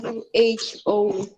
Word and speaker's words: who: É como se esse W, ele tá na escrita, mas ele não é pronunciado.